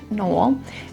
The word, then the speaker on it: Noel: It looks like Noel, but it is a town that is pronounced Nol.